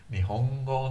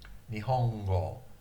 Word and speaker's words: Nihongo: Nihongo no kyōshitsu ni yokoso.